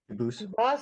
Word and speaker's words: Dubus: They do pronounce it dubis, but you said you pronounce it dubus as the original dub as the original French. French. Yep. Very well. Duboose.